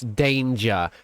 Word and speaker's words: Danja: I pronounced it wrong. It's Danger.